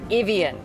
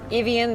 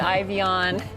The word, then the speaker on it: Ivion: a something that sounds what sounds like evian uh do you have